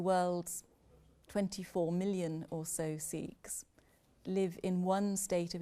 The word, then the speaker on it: Sikh: point one sik which is pronounced sik in Punjabi is a word which means a